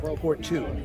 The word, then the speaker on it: Pourtout: How is it pronounced? Pourtout.